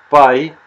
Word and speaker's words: pie: Tarta en inglés, pie, se pronuncia exactamente igual que nuestro querido número pi.